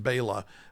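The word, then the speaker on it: Béla: believe that he was Bella Losce which by the way is his name would have been pronounced Baya.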